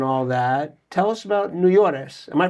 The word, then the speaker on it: Nuyores: Um, before we uh get into your whole backstory and all that, tell us about Neores. Am I pronouncing it right?